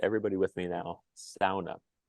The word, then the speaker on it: sauna: to preserve it uh I grew up pronouncing that word just like Tom did in the Finnish dialect it's the one Finnish